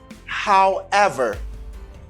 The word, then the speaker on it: however: ever how let's audi however however the stress is in ever acceptor nucleus is whoever